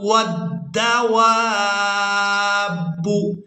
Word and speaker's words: والدواب: ادا کریں گے، والشجر والدواب۔ اس لفظ کی ہجے ہم نے اس طرح سے کرنے ہیں کہ واو کو دال مشدد کے ساتھ ملانا ہے۔ یہاں پر جو آپ